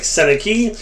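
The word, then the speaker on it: Sennecke: nice short print Bennett Senica coming to you as well. His name sound spelled like Senaki and he sounds like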